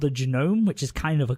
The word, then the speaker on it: Genome: Did you say Jerome? Lord Genome. Oh, Like Lord genome? Like the human genome?